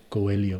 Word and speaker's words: Coelho: Coelho.